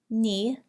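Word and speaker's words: knee: Ni has a silent K.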